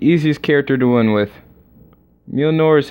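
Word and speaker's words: Mjölnir: Mjolnir is how you say it. Yeah. Is how you pronounce it.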